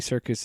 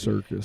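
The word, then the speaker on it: Serkis: never realized it but if you say his name and you don't see how it's spelled it sounds like like circus like he's in a circus yeah I wonder if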